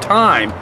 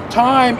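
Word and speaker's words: thyme: to show you is called time it's spelled th ym e time is most widely used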